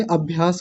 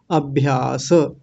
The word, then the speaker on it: अभ्यास: है वो है अभ्यास अगर केवल मैं हिंदी में इस शब्द को लिखूं तो आप लोग क्या बोलेंगे अभ्यास बोलेंगे लेकिन यहां क्या बोला जाएगा संस्कृत में अभ्यास अभ्यास स को पूरा बोलेंगे अभ्यास और आगे है वैराग्याभ्याम